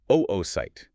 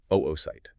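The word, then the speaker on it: oocyte: So you will hear us use the term oite. That is the exact scientific nomenclature for the unfertilized egg cell. And we really want to be highly deliberate about that pronunciation. Oight.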